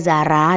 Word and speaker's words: Zara: if we talk about Zara Zara artinya Zara that's how you pronounce it not Zara but Zara everyone Oke dan juga kita